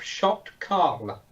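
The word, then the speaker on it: Sho't Kal: at home what it is it's an IDF shocked call that's how you pronounce it which is a centurion um from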